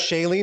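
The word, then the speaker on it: Shailene: backdrop Hawaii first off pretty sure it's pronounced Shaylee not chalene but whatever that's a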